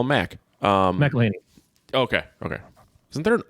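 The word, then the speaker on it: McElhenney: McElhaney.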